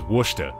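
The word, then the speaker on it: Worcester: just yeah Worchester Massachusetts which is actually just pronounced as wer wor wer Massachusetts they call Massachusetts they say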